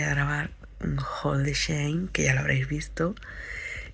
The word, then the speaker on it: Shein: O sea, cuando tú vas al creador de Shein, porque pone que hay que pronunciarlo como Shein, ¿vale? Como si estuviera pronunciándolo en inglés.